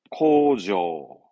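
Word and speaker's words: 工場: 발음은 코조, 공장은 코죠.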